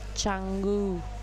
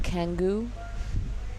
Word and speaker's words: Canggu: Canggu. Chantik. Yes. I've heard time again, like I've heard 1,000 times, people call Canggu Kangu, Sangu.